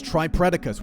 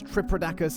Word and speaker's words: Tripredacus: Then there's Tripredacus, which I horribly mispronounced as Tripredacus in my other combiner vid, and boy did the comments let me know about it.